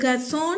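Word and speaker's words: חזון: വെളിപാട് അപ്പ അതിനെ പറയുന്നത് ഗസോൺ എന്നാണ് അതിന്റെ ഉച്ചാരണം അതിന്റെ സ്പെല്ലിങ് സിഎച്ച് എസെഡഒഎൻ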